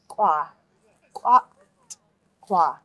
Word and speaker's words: kw'atl'kwu: So we're going to go kw'atl'kwu. And this TL is a hard one because you need to pronounce the T and the L together. And it's like a that sound.